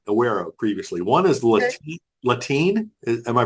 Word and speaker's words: Latine: One is Latine. Am I pronouncing that? Latine.